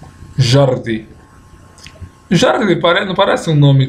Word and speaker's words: Jordi: Aí agora vem com esse aqui, ó. Ordi. Ordi. E, por final, colocar o som do J. Jordi. Jordi.